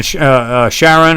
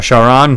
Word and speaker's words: Charon: then you jump on Sharon or shaon depending on how you want to pronounce it and you go wait